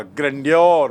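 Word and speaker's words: grandeur: सो यहां पर ऑथर इस सेइंग और प्रलय का वह वैभव वह महत्ता ग्रैंडोर मतलब वैभव उच्चारण देखिए ग्रैंड से बना है ग्रैंडोर ग्रैंड मतलब विशाल वैभवशाली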